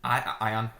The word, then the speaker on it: Ion: Yeah, and I think this system, it's already, the designer's already come out, Ian, is that how you say his name? Ion.